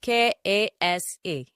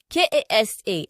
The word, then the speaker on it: kasa: If you want to say I fell down, the pronunciation of K-A-S-A as in ground or down is Kasa. Kasa. Kasa. Then the pronunciation of country or sand or soil is Kasa.